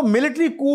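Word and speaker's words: coup: ड this word mean इसमें P silent है व्ट डज इट मीन या उसको हा इसको मिलिट्री क भी कहते हैं कु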